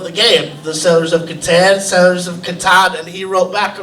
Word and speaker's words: Catan: game, the Settlers of Catan, and he wrote back a response that he wrote it as a post online, and it said you pronounce the ka like in karate, and then he typed